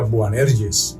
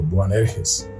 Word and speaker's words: Boanerges: Yo he oído por ahí que hay gente que lo pronuncia Boanerges, pero lo voy a pronunciar así como está escrito, Boanerges.